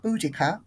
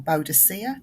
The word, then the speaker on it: Boudica: fame I live in queen boudica or bodacia depending on how where you where you pronounce it I live in the